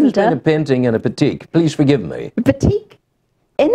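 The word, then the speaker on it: batik: I and die but you you pronounce said petique I would have said bati no that's the yeah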